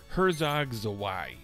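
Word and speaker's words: Herzog Zwei: So in case you were wondering, it's pronounced Herzog Zawai.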